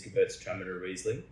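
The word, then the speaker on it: Gewürztraminer: us an amazing the pronunciation is Gertz Tram Reisling. Um for any of the German members out there please correct our pronunciation if it's not quite right.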